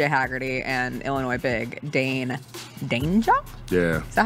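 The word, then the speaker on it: Dainja: Haggerty and Illinois big Dane Danger? Yeah. Is that how we pronounce? Danger!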